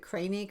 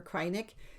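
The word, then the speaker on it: Kreinik: cry nick is it craning or cry Nick and I got to the site and it's this it said think of a sad Santa cry Nick cry Nick so I have that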